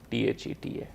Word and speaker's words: theta: what you are seeing here this is the theta and what you pronounce this as a t h e t a theta this is the to represent the angle